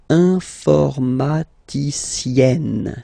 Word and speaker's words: informaticienne: And you get the sound informaticienne. Sienne. Remember E and then double N, or then it could be double L or double consonant here. You open your E, so it's E. Informaticienne.